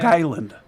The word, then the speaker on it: Long Island: be careful and uh I think it's pronounced Long Island they like they run it together sometimes I really wonder I really wonder Long Island thank you yeah you're